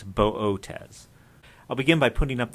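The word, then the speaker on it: Boötes: in the constellation Bootes the two dots you see over the second Oh in this case just mean to pronounce both letters of the long o bow Oh tez it's not booties it's not bodis it's buh Oh tez I'll begin by putting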